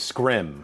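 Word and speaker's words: Skrull: It's the proper way to say it is Scrim.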